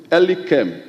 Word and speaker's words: Elikem: The name is supposed to be Mr. Elikem. Elikem. And Elikem is spelled E-L-I-K-E-M.